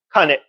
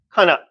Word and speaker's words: 金: 자, 킹이라고 한자 명사에서 굉 아니면 콩이라고 읽어도 있다는 걸 주의하고 그다음에 이것도 뜻이 몇 개 있습니다. 회금을 카네 오카네 할 때 돈이잖아요. 카네란 말. 음. 그다음에 카나 카나 쇠라는 뜻인데 그거는 카나짓지라든가 쇠망치를 가나짓지라고 하거든요.